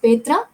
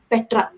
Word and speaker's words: Petra: and then comes petra you should read it as pedra not petra it should be read as petra so petra is the